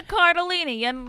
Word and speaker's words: Cardellini: Linda Cardellini. Your last name rhymes with tortellini.